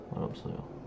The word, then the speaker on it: 맛없어요: Changes when it is not followed by a word. It's pronounced as T. Mat. When it's followed by 있어요, if you're an S. So 맛있어요, making it 맛있어요. When it's pronounced like 없어요. It pronounces D sound, so it'll be 맛없어요.